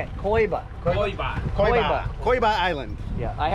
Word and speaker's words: Coiba: Coiba.